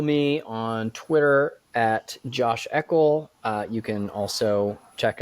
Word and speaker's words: Eakle: my last name right everyone pronounces it wrong so we're already off to an amazing start for having me yes I know it's not eal and it's certainly not URL exactly not either one of